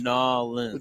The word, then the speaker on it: New Orleans: If you're going to say it right, you got to say it right. Nolans. I'm close. It's Nolans.